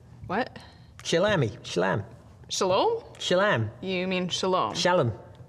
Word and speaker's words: shalom: Sort of shalami. What? Shalami. Shalam. Shalom?